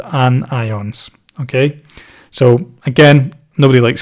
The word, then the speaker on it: anion: charged ions are called an ions negatively charged ions are called anions so I can I think that sounds like onions a little bit I mean have you